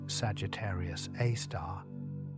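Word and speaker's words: Sagittarius A*: The black hole at the center of the Milky Way, Sagittarius A, pronounced Sagittarius A star, contains approximately 4.1 million solar masses.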